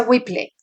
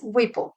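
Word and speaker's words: Whipple: En inglés le llaman wiple. En mi vida había escuchado una cirugía de este tamaño. En español se pronuncia whiple y en inglés wiple.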